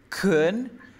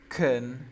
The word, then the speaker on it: can: Ok, recuerda de que el can tiene dos formas de pronunciar. Se pronuncia kun Could o can.